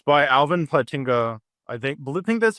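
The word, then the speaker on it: Plantinga: Um it's by Alvin Platinga. I think think that's how you pronounce his name.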